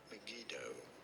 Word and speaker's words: Megiddo: Megiddo.